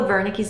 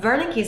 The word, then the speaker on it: Wernicke's: With Wernicke's aphasia, just think that someone is talking to you, perhaps in a different language, and you don't understand. So in German, the W is pronounced as a V.